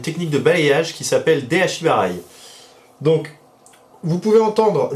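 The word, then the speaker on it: de-ashi-barai: Donc, vous pouvez entendre Deashi-barai et Deashi-arai aussi, puisque vous savez en japonais, la place du mot a une importance, elle change la première lettre, en tout cas au niveau de la prononciation.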